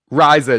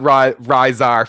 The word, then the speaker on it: Riza: Riza, not Rizar, Phil. So disappointed. I'm from Boston. I add R's to everything.